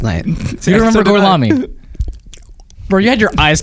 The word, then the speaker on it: Gorlami: Gorlami. One more time? Gorlami.